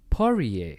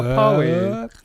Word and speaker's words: Poirier: Dustin Poirier. Oh, there you go. Billy used to say Dustin. Oh, wow, Poirier.